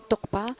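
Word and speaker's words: རྟོགས་པ: dice la consciencia conceptual se llama tokpa toca tiene una s que es como topa pero es que no se pronuncia Pero entonces tenemos que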